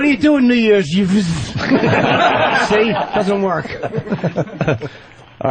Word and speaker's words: Yves: Yeah, YVES. YVE. Your name is Yves. It's not Eve. Funny. That was Jacques Cousteau's middle name, right? Was it? Yeah, exactly. Hey, what are you doing New Year's? Yves.